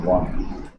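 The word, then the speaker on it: won: विन, वन और वन, इसका उच्चारण दोस्तों वन होता है और इसका भी क्या होता है?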